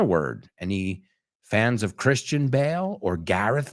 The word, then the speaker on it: Bale: Any fans of Christian Bale or Gareth Bale? Aunque esa se escribe B-A-L-E, pero se pronuncia exactamente igual.